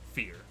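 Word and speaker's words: Feyr: so this is not it's spelled uh f-e-y-r but it is pronounced fear a fear is a tentacled horror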